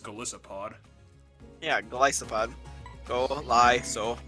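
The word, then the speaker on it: Golisopod: in love with this goliath pod also i'm saying it wrong it's just galicipod yeah glycopod go lie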